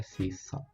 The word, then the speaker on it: C#: Kali ini gue mau share tentang bahasa pemrograman yang bernama C# atau tulisannya C-Crash tapi dia dibacanya C#.